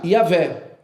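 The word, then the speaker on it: Javé: se se se dizia na verdade yavé ou então Jeová como a gente conhece no no no no nosso português mas olha que interessante isso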